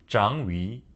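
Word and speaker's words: Changyu: Whitle it's written as 'Chang Yu' in English, It's pronounced 'Zhang Yu'.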